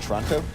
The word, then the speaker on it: Toronto: I've heard that actual Torontoers don't pronounce the first O. It's kind of like Toronto. Really?